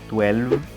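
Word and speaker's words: twelve: the final L, and the challenge comes with the final V sound because you must bite your lower lip for a nice pronunciation. Listen, 12, 12, 12. Do not pronounce with a final F.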